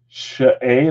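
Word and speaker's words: Skjei: Just sneeze and you said it right. Shay, that's how you say his name? Brady Shay is how to pronounce it?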